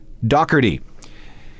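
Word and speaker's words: Doherty: Pete D's last name that's the way the British do it anyway back to Liam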